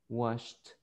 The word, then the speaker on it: washed: vibration no vibration present wash sh no vibration so washed washed in the past next one fix is